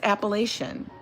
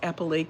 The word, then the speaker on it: Appalachian: No one in Appalachia uses a hard C. No one. It's a it's a soft, right? It's a soft C. It's like sh. It's Appalachian. And he was saying it was Apple and I'm like, "No, it's not."